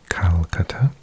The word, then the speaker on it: Kolkata: going to go to Kolkata which is over here Kolkata or in English we often pronounce it calata he just on the